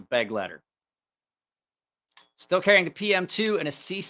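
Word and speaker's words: Begleiter: Somebody's like, it's pronounced this. I'm like, great. It's pronounced Beglieder. I'm like, great. I don't care. Like, you're not going to get me to pronounce it that way. It's a beg letter.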